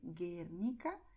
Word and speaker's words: Guernica: En el caso de Guernica, Guinea, la U se escribe, pero no suena, ¿vale? Guernica, Guinea, ¿vale?